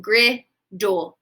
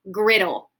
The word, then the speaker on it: griddle: Am I going to make that D sound 2 times? No, I do not make the first D sound. It is silent. So it says griddle, griddle, okay?